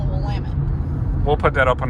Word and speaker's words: Willamette: You gotta say it like you're cursing. It's called the Willamette.